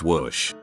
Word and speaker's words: Wash: My father would be Stosh and I would be Wash. Pronounce whoosh.